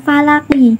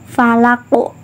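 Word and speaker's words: فلق: Nah, terus karena ini dibaca waqaf atau berhenti ya, terletak di akhir kalimat, makanya membacanya itu bukan falaki, tapi membacanya yaitu falaqo. Nah, berhenti sejenak, terus qafnya dipantulkan berat gitu ya.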